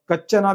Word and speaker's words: Kaccana: अभी यहाँ पर भी जो कक्कना है इसको कच्चना भी कुछ लोग कहते हैं अनुवादन में। इसका जो स्पेलिंग है KACCANA ऐसा स्पेलिंग है। तो इसको क्या प्रोनाउंस करना चाहिए आप लोग खुद मुझे कमेंट में बताइए।